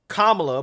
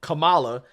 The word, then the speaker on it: Kamala: again the way you pronounce her name is commala but some people pronounce it Kamala now I'm not entirely sure how that is